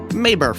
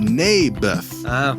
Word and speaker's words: Naboth: You mean Naboth? Yeah, that's what I said. Mayberf. I think you're saying it wrong. His name was Naboth.